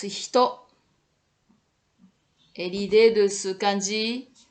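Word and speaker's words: 人: Ça se prononce hito.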